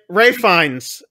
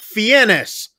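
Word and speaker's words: Fiennes: but it's so like like Americans we can pronounce this Ralph that's right that's right right finds yes uh because it's like Rafe yes Ray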